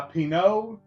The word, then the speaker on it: Pinaud: again this is by Pino I believe the D is silent um but this is